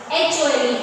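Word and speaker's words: whole: So here W is silent.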